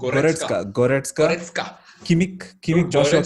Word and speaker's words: Goretzka: How do you pronounce? Goretzka.